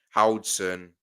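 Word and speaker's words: Huijsen: Dean's lost last name is pronounced Howson.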